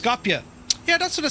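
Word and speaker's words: Skopje: It's pronounced Scopia.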